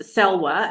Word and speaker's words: Salwa: Sal, it's pronounced salwa.